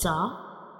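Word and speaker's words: ظاء: So when we pronounce zah, we will touch up and down teeth together and then we will touch the tip of tongue behind the upper and lower teeth to pronounce zah.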